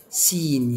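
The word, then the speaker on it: scene: نيجي بعد كده حرف السي، حرف السي لو جه ورا حرف الاس مش هنطق السي، مش هنطق الايه؟ السي. زي كلمة سين يعني مشهد، سنت يعني رائحة.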